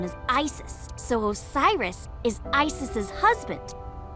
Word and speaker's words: Isis: system probably yeah it's pronounced closer to isse or ASA hmm how do I explain this I told you about horus's Dad Osiris his mom's name is Isis so Osiris is isis's